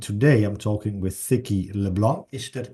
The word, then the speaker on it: LeBlanc: medical community and today I'm talking with thicki Leblon is that correct pronunciation it's perfect yes so I have to